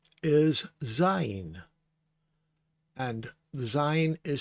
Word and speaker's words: Zayin: And then this is the E sound, long E sound, because it's a hirik Yod. And a hirik Yod makes the long E sound. So it's Zayin.